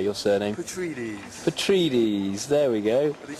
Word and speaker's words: Petrides: Petrides, there we go.